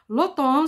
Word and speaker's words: automne: première qui est l'automne ça s'écrit avec m mais en prononce l'automne l'otan c'est la première saison